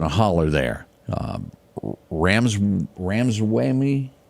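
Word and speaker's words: Ramaswamy: a hoop in a holler there um Rams ramswamy how do you say that OD yeah ramaswami ramaswami I know where you got that out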